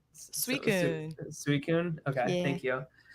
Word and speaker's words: Suicune: Suicune.